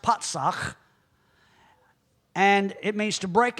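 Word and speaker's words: פָּצַח: Strong's number 6476, pronounced patsach, and it means to break out, to break in pieces.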